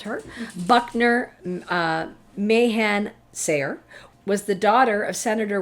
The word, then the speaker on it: Sayre: And her father, Anthony Dickinson Sire, I don't know if that's how you pronounced it. It's Sayre. I should have looked that up. Sire. Yeah, I'm going to say sure. Sire. Okay. Sayre. I'm going to say Sayre. Sayre was a powerful man.